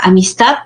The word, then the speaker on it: amistad: pues podemos visualizar no en la palabra amistad ya está segmentado en tres sílabas y en la que se pronuncia pues con mayor fuerza de voz aquí lo que les indica es la última sílaba en este caso y